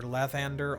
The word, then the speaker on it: Lathander: It's an A, and Ed Greenwood has told us that it's Lathander. Depending on where you're from, the accent may differ. It's either Lathander or Lathander, with the accent like on the first or second syllable. But it's not Lathander anywhere.